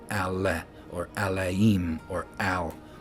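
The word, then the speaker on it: אלהים: So in modern Hebrew, people would say Elohim, but I believe that it's the aleph forces you to use the a sound, and it would be Alaim, right?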